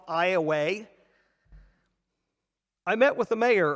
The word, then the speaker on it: Iowa: of Iowa and from for those of you who know the spelling of Iowa this is spelled the same way but in Southern Louisiana it's called Iowa I met with the